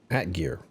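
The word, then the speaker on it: atgeir: Atgeear it' be nice if you actually pronounce it for me.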